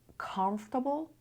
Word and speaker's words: comfortable: Comfortable, uncomfortable. بچه دقت کنید. Comfortable. خیلی ها میگن آرش رو پرونانس نکنی ولی تو امریکن انگلیش معمولا به این صورت میشن.